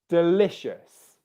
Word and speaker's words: delicious: Zenny, the stress in that word is on the syllable le. Delicious, delicious, delicious, delicious, delicious, delicious, okay? Can you hear the stress on the second syllable there?